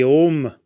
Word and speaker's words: Om: we know that the the OM is actually the Sanskrit word a m a but it's often seen spelled with an O because that's the way it sounds so we can use